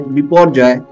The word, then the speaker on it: Biparjoy: June 6 after which it was named Saturn before Joy pronounced as before Joy this is Bangla name recommended by Bangladesh means